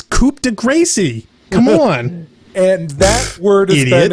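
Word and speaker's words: coup de grâce: had coup de Grasse which people pronounced vaguely French pronounced right it's coupe de grâce em1 and that word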